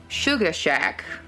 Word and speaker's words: Suga Shak: to go to a Christmas party at the Suga Shak in Jonesville, which Suga Shak. It's spelled S-U-G-A-S-H-A-K.